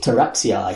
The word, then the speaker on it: Taraxii: Taraxii. Fantastic. That's Roman pronunciation. Thanks. A Roman pterodactyl pronunciation.